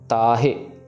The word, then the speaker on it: ताहे: सो काल फास ते ताहे ताहे में भी वही रूल जो हमने पिछले देखा था तते कन्ना ता तो वो लंबी जाएगी साउंड हाहे से आ रही है छोटी है। सो ताहे उबारा हमने ऑलरेडी देख लिया।